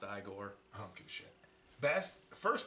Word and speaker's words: Igor: the it was um it's pronounced Igor I don't give a best